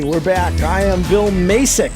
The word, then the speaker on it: Macek: I am Bill Macek. Macek is the way it's supposed to be said. The guy that does the professional pronouncing, whenever he cut the liner, he says Macek.